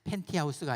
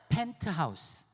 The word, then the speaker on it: 펜트하우스: 먼저 하세요 네 맞습니다 발음 잘해야 돼 팬 티 하우스가 아니라 펜트하우스 펜트하우스 이름을 알죠 혹시